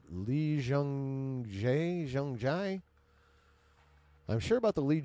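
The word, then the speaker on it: 이정재: Pronounced J, Lee Jung-jae.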